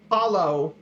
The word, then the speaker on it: halló: If you say hello in Icelandic, it's halló.